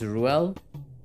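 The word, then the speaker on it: Reuel: My brother's name is Ruel. It's spelled R-E-U-E-L. And it's derived from Hebrew.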